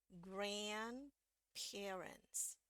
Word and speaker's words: grandparents: semuanya grand parents grandparents perhatikan sekarang tanda tekanannya ya stresnya di sebelah depan yang mewakili Grand jadi di sini yang naik nadanya ini turun ini juga turun lebih turun lagi biasanya daripada yang ini ya naik turun turun naik turun turun grandparents grandparents oke grandparents yang versi British